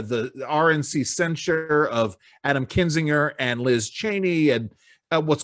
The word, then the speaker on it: Kinzinger: a resolution where they censor uh reps uh kenzinger i say his name kenzie kinzinger and uh and chaney uh and for good